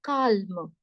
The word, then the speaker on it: calme: Elle n'est pas calme. In English, you say S nahi pronounced. L is not pronounced. But in French people say, we don't have this rule. You need to pronounce L, right?